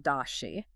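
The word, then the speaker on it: 大写: In Pinyin, that's pronounced dashi.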